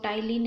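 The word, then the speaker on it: ptyalin: Spelling P से silent, P से start होती है लेकिन पी साइलेंट है।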